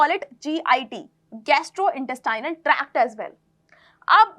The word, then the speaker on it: GIT: अब इसे गिट मत बोल देना, इसे गिट प्रोनाउंस नहीं करते, इसे GIT प्रोनाउंस करते हैं।